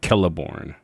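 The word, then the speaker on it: Celeborn: Because he said that everything in lore in that token wrote any everything with the C any names with C they they pronounce with a K like Kelliborn.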